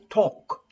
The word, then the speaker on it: talk: to you later okay when you say talk talk don't pronounce the l sound you say talk talk